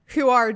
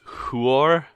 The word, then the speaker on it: Huor: I do believe it is pronounced Huor and Tuor. What am I saying? You were going R. You're going R. It's or. Oh, okay. Tuor. Huor. Huor. Yes.